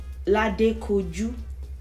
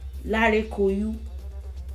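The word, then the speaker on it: Ladekoju: With words like Lade Koju, sometimes you hear Lare Koyu, Lare Koyu, yeah, yeah. Sometimes you hear, there are some older singers that have the pronounced D. With Baba Lazaro, it says Lade Koyu, yeah. You hear the D, but the G is obviously replaced with Yi, you know.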